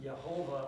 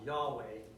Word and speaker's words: Yahweh: anime to yhwh and this led to the pronunciation of jehovah or jehovah which is very unlikely to be the correct pronunciation and in the end no one really knows how yhw ages to be pronounced however biblical scholars have settled on yahweh as the closest that anyone could get it might not be correct but it's closer than jehovah now one last thing